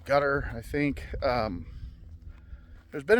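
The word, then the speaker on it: Qatar: But from what it sounds like there was enough damage, I think it's pronounced gutter spelledqar pronounced gutter.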